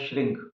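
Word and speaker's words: श्रीं: मां का जो बीज मंत्र है वो है श्रंग और आपने इसका उच्चारण करना है श्रंग नमः श्रंग नमः श्रंग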